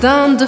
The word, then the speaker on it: dinde: Eh bien oui, nous avons la dinde farcie. La dinde farcie. Como eu pronuncio isso? Primeiro, lembre, IN, eu vou abrir um sorriso. Dinde, dinde, dinde. E eu anasalo o som sem marcar o I.